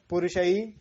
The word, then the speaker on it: पुरुषैः: ठीक है, तो आपने सबसे पहले इसका उच्चारण करना होता है कि जैसे कहाँ पर विसर्ग है उसको के उच्चारण से संबोधित करना है। ठीक है, आई की मात्रा या ए की मात्रा है, तो जैसे पुरुषैः विसर्ग भी है साथ में है।